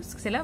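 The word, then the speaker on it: छह: அப்புறம் 6 சஹ. 6 சஹ, அதை சேன்னு கூட உச்சரிப்பாங்க ஒரு சில இடங்கள்ல. ஓகே, சஹ இல்லைனா சே.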